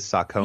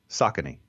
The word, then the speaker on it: Saucony: longer than Dunkin Donuts you pronounce it over there is Socko yeah what do you say Saucony oh well I stand corrected yeah no I mean